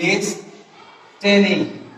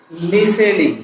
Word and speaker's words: listening: এখানে আছে আরেকটা শব্দ হচ্ছে তাহলে এটা এখানে আছে কি লিসটেনিং, অনেকে বলে লিসটেনিং অথবা বলে লিসেনিং। লিসেনিং শব্দটাও incorrect. আসল প্রনাউন্সিয়েশন হচ্ছে কি লিসনিং।